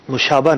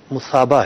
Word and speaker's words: مثابہ: یہ لفظ مشابہ نہیں ہے، مصابہ ہے. سے ہے غلطی سے جو ہے وہ اس کا تلفظ شین پڑا گیا، جس پر میں معذرت خواہ ہوں.